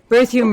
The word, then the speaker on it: Berthiaume: My name is Berthiaume, and the Berthiaume rhymes with perfume.